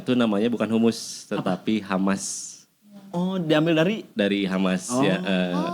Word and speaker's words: Hummus: Jadi kita ganti nama jadi Humus walaupun tetap pelafalannya itu Hamas ya. Pronounce-nya tetap Hamas.